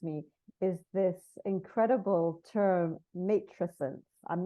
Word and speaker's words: matrescence: thing that strikes me is this incredible term matent I'm not even sure if I'm I'm pronouncing it correctly is that how you pronounce it mesent mesent there we go would you be able to